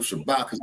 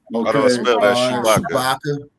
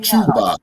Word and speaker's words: Shabaka: the like page of Shabaka's Black Experience Enhanced. And how do I spell that? Follow Jesse. Okay. How do I spell that? Shabaka. Okay, no, it's not Chewbacca. It's Shabaka.